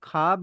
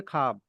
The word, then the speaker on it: ख्वाब: For example ख्वाब या ख्वाहिश, उसमें आप खाब या खाहिश पढ़ते हो, वाव पढ़ा नहीं जाता, मतलब प्रोनाउंस नहीं होता, साइलेंट रहता है। राइटिंग में जरूर आता है। आप लिखते ख्वाब हो अच्छा। लेकिन पढ़ोगे खाब।